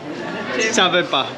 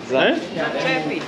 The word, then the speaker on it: Začepi: No, but how do you say for someone who is actually you want him to stop speaking? Sevapči. Za? Sabepa. Sabepi? Ne. No. Za? Čepi. Začepi. Začepi. Začepi. Exactly.